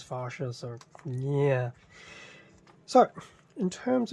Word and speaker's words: Farsia: original fascia um manual it does make me wonder if it's supposed to be pronounced as fascia or farsier anyway I'm pronouncing it as fascia so yeah so in